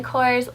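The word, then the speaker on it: Korres: But let's jump in, and the first thing I have in this little pocket is my Kors lip butter, or Kerez, I've heard it pronounced both ways, and this is the Wild Rose lip butter.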